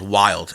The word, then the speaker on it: Wilde: Or actually, a really good brand that you might like, that I'm a huge fan of, is called Wild. It's spelled WILDE.